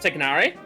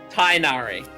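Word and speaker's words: Tighnari: Also, the way they pronounce it in game is wrong. It should be pronounced Tignari. How do they pronounce it in game? Tainari.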